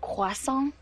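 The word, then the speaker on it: croissant: got back from Europe it's actually pronounced quason I was just in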